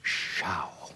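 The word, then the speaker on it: Zschau: and Shou it says a pronouncing of credit Edie as they said in the commercials Xiao it's a weird name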